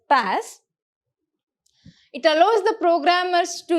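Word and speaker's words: PaaS: a service which is called as the pass you can pronounce it as pass it allows the programmers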